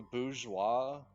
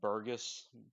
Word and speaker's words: bourgeois: is it the the Bourgeois name kind of yeah it's like as if you're saying it wrong like Burgess or borgas or whatever yeah whatever that is like a Grandeur and